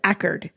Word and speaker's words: Accord: It's spelled like Accord, but they pronounce it Ackerd, New York.